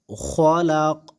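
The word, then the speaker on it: خلق: কি হয়ে যায় সে হরফের উপরে জবর জের পেশ থাকলে সেগুলি সাকিন হয়ে যায় তাহলে এই কফের জবরটা কি হয়ে যাবে সাকিন হয়ে যাবে আর উচ্চারণ হবে কি খলাক খলাক মিন শাররিমা খলাক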